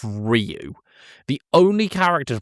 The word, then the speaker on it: Ryu: It's not Rayu. It's not Rayu. It's Ryu. The only character to pronounce Ryu's name correctly was Bison.